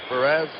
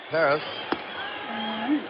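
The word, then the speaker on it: Pérez: He says Perez. Perez. I guess that's the Latin American pronunciation, Perez.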